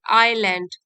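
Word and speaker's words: island: आइलैंड, S silent है, आइलैंड मतलब द्वीप में पहुंच गए।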